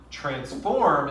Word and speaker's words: transform: the first syllable now transform is one of those weird words at least weird in english where you do stress the second syllable because trans is a prefix there and it's not it's